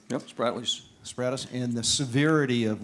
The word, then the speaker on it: Spratlys: and the building of the islands and the Sprats, I believe I pronounced that right. Yep, Spratlys.